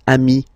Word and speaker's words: amis: Okay, but then technically you pronounce it the same way. So singular form, ami. Plural form, you add this S, but it's ami as well.